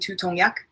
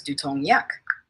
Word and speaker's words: 두통 약: One, tutong should be pronounced as dutong with a clear D sound, not tu. 두통 약을. Two, yak should be pronounced as yak, not yagul. Try saying tutong yak as dutong yak.